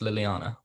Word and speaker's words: Liliana: and oh actually really quickly is it definitely pronounced liliana yes yes yeah okay but you can call